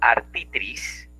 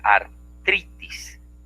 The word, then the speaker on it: artritis: Por ejemplo, digo artitris, cuando lo correcto es artritis, ¿verdad?